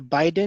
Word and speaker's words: Biden: something about voting for uh how do you pronounce his name bidden or Biden Biden Joe Biden Biden yeah Joe okay so